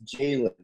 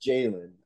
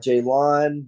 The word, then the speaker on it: Jaylon: um just and also when you guys say my name is Jalen it's Jalen uh not Jaylon not jalon not not this Jalen uh